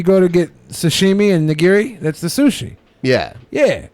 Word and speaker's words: nigiri: it's the gears and you're jf say Jessica nigiri it's a type of sushi right nigiri you go to get sashimi and nigiri that's the sushi yeah yeah yeah so I'd